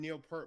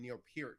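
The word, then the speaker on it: Neil Peart: Neil P Pier died everyone I called him Neil per my whole life the drummer from Rush and he died and it's like everyone was calling him Neil pier and I'm like oh I've been mispronouncing his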